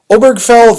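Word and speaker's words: Obergefell: o b e r g f l l obergfell v hjj and HJ is spelled like you'd think Hodes any case OB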